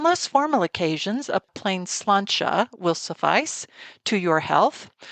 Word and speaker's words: sláinte: would like to toast, to sláinte, which is spelled differently than it sounds in the Gaelic way.